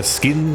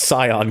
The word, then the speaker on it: Scion: The Skin XA. Guess I watched too much Eden. What about it? I think we all do. Oh yeah, that I remember. Skin, bro. It's pronounced Scion. Get it right.